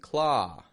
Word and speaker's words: claw: A lot of people will pronounce this ah like la, pause, and claw as a moving sound. People will round their lips to make an ow, saying low, pose.